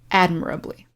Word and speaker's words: admirably: second and third syllables the adverb form is pronounced similarly to the adjective form admirably so once again the